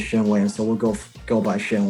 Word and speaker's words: Shen Wang: That's how he pronounced his name, Shen Wang. I think he's if you say it the right, if you say it in Mandarin, you'll be Shen Wang. Shen Wang. But he says Shen Wang.